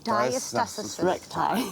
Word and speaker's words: Diastasis Recti: Did I pronounce it right? Yeah, it's Diastasis Recti. Diastasis Recti.